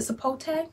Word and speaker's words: sapote: Okay, so we pronounce it... Sapote.